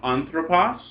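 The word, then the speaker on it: ἄνθρωπος: That's the accent it will want to keep because it is a noun, anthropos. And when the ending goes long, the last syllable is long, you get an acute accent on the second last. So anthropos, but anthropu.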